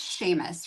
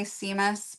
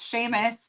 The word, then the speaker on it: Seamus: I love it's pronounced Sheamus, right? I always want to say Seamus because it's spelled that way and Jessica's like, "No, it's Sheamus.